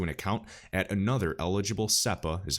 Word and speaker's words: SEPA: It will also be possible to make transfers to an account at another eligible SEPA, is how I pronounce it, Single Euro Payments Area Bank.